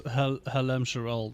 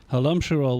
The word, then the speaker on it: Halam-Shiral: I would suppose it's Halam-Shiral then, right? Emphasis on the second syllable again.